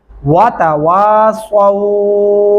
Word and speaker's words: وتواصوا: وتوا، یہاں پہ بھی سواد ہے، سو بل نہیں کرنا ورنہ آپ سین لگا دیں گے، غلطی ہو جائے گی تلفظ کی، ترجمہ بدل جاتا ہے، ان چیزوں کا خاص